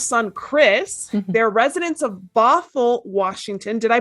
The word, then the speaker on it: Bothell: They're residents of Bothell, Washington. Did I pronounce that correctly?